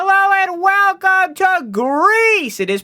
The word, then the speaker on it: Gris: So I imagine it's probably supposed to be something along the lines of Gris, probably. But we're gonna say it Gris, because that's how they said it on Twitter 6 years ago. That's how we're pronouncing it. It's Gris.